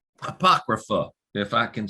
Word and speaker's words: apocrypha: do have some of these non-canon texts uh apocrypha apocrypha if i can say it finally right and